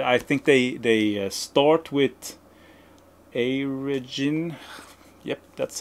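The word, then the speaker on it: Airegin: And I think they start with Aragin. Yep, that's how you pronounce it.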